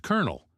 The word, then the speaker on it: colonel: Apparently, it's because English borrowed the spelling from Italian but kept the French pronunciation.